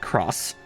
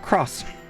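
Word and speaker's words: Xros: That's supposed to be pronounced cross again.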